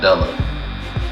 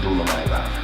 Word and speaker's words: Dula-Mite: So, stuck with Dula-Mite, and it's stuck, even though some people still pronounce the shit wrong, like Dullah. It's not Dula-Mite, it's Dula-Mite.